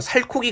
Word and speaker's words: 살코기: 대표적으로 이제 이런 거 살코기 같은 거 보면 얘는 살 더하기 고기의 형태인데 그죠? 근데 갑자기 코라는 발음이 나거든요. 옛날에는 살의 종성에 히읗이 있었던 거예요. 그래서 이 히읗이 현대 국어에서 살이라고 썼을 때는 나타나지 않는데 다른 단어와 결합할 때 이 흔적 때문에 히읗과 기억이 결합해서 최종적으로 살코기 이렇게 적게 되는 거죠.